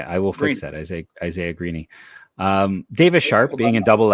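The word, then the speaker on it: Greene: Green, it's pronounced Isaiah Greeny. The E is pronounced Greeny. Interesting. That's what the guy who played with him growing up, he told us. Okay, I will fix that. Isaiah Greeny.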